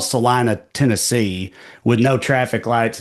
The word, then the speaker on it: Salina: Well, I'm glad you pronounce it correctly because there's a Salina Texas too, but of course everybody wants to go Selena with that uh that